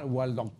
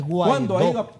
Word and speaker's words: Guaidó: Marco, ahora es el segundo golpe de Estado de este señor Gualdón. ¿Cuándo ha ido a elecciones? Pronúncielo bien, no es Gualdó, es Guaidó.